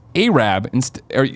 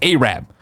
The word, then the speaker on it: Arab: when reading an answering you pronounced a Rabb pronounced Arab as a rap from what I understand that is considered to be a derogatory pronunciation similar to the use of oriental for Asian descent people of Asian descent the correct pronunciation is Arab I don't want you